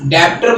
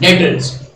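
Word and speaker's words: debtors: डेटर्स means डेप्टर मत पढ़ लेना इसको, बी साइलेंट, डेटर्स।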